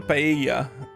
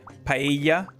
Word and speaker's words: paella: Sea monster paella.